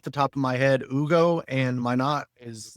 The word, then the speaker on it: Hugo: Yeah, I think Hugo's got the upside to be able to knock him down. I don't know why I'm going to call him Hugo. It's spelled Hugo.